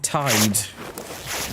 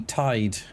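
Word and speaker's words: taid: In Wales, we have Tide. So that's spelled T A I D. Tide.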